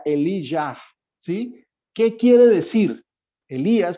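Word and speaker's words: אליהו: Elías en hebreo se pronuncia Elijah, ¿sí? La transliteración al griego y después al español, a nosotros lo conocemos como Elías, pero el nombre, como fue pronunciado y según su significado, era Elijah, ¿sí?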